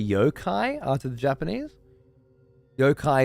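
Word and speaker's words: yokai: are to the Japanese yo-kai is the Japanese way of pronouncing Yao guy okay cool for the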